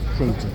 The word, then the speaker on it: Trojan: Trojan.